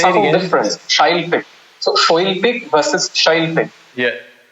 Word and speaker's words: Shailpik: In Bangla, we tend to open our mouth. We got that awe situation. We have the O. The Shailpik is a very rounded, take your time kind of way of pronouncing. Yeah. Shailpik just rolls out easier, and in English it just fits in easier.